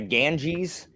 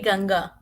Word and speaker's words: Ganga: you pronounce it same do you pronounce it the Ganges we say Ganga Ganga telling also different you should of g-a-n-g-e-s it is g-a-n-g-a for us the Ganga I like that